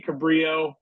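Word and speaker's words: Cabrillo: have a cabillo beach it should be Cabrio but we call it cabillo uh should be San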